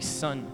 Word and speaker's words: sun: ao redor do sol em inglês é a mesma pronúncia s o n e s n sun s n é sol